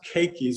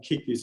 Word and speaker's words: keiki: This produced lots of, it's pronounced keikis, but everyone calls them kikis, and we'll talk about those later.